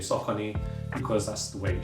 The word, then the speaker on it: Saucony: why for the longest time I've been saying sock on because that's the way it should be pronounced cuz you know I've seen people pronounce